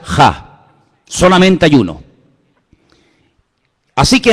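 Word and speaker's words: ה: En hebreo solamente hay un artículo, no hay él, no hay la, hay uno solo, se pronuncia ja, solamente hay uno.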